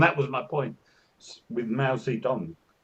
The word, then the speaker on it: Mao Zedong: And that was my point with Mao Zedong. It was Tong, and then it was Dong, and it's like, when did that change?